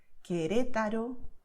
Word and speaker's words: Querétaro: So what you have here, Caracas, Colombia, Cuba, Querétaro, Quito, all right? So sound K all the time.